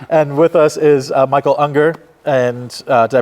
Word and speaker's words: Unger: Theater so sorry and with us is Michael Unger and uh did I pronounce that right you did oh fantastic yeah